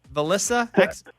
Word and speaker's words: Villisca: Villisca? I've heard it a million ways. It's actually pronounced Villisca.